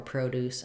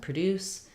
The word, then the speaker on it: produce: six-week course as well not all nouns and verbs have first or last syllable stress patterns just some of the time and when it's spelled the same way like record and record or produce and produce or perfect and perfect um perfect uh suggestion and